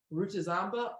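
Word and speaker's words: Rutazamba: I spelled my last name wrong I'm gonna spell it right this time rucha zomba r u t a z a m b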